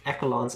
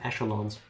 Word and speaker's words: echelons: it because i think there's two pronunciations of that word echolons and echelons egglands makes more sense it's like route and